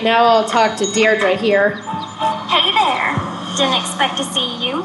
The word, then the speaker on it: Deirdre: in it or something hi Didi Deirdre I know it's got that tricky second syllable but I figured it out by age two don't give up you'll get there sorry Hi Deirdre hey now someone's getting